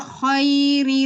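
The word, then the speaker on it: الخير: Wa innahu lihubbil khairi lasyadid. Nah, huruf kho ya, Afan. Huruf kho-nya jangan pakai bibir. Khairi, tapi khairi.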